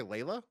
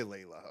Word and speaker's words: Leela: to search I'm I'm I think it's Leela we gonna do Leela we gonna say Leela okay but what did